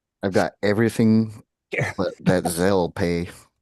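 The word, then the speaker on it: Zelle: Z E L L E. Z like Z as in zebra as in zebra.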